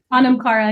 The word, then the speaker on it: Anam Cara: Anam Cara Academy, but it's spelled Anam.